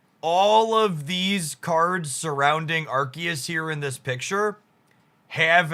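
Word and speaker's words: Arceus: friends around arus here archus I'm going to say arus a lot just cuz that's I've always pronounced the card apparently it's archus I'll make we'll make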